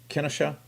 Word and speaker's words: Kenosha: how do you uh how do you pronounce it kennesha kenosha yeah okay well we'll say kenneth